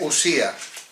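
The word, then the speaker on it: οὐσία: dice así, se dice usía, es una OU, ¿ves? Se ve bien, ¿no? No está al revés, ¿verdad? Se pronuncia U, es usía.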